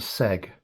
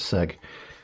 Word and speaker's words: CEAG: operated mining lamp and it's called the seg and I think I pronounced that right it's spelled c-e-a-g um so I I pronounce that as seg um but I'm willing to learn if that's uh not quite the right way but they're made in